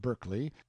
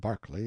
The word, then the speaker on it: Berkeley: Banks, Sellers, Vic Count Berkeley of Chalmundi Castle, Warwickshshire. Pronounced Cubri Flanover Marshbank Sellers Viccount Barkley of Chumley Castle, Warshire.